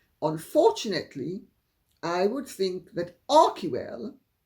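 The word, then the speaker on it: Archewell: Because as our bell-bottom says, and this I agree with, unfortunately, I would think that Arcwell, or as they mispronounce it, Archwell, they being Harry and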